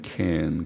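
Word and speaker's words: חן: 히브리 말로는 켄 그럽니다. 헨이라고도 발음하고 헨보다는 크에 가까운 헨, 거친 숨소리를 내는 헨 그렇게 합니다. 켄이라고 우리가 음력할 수 있는 말입니다.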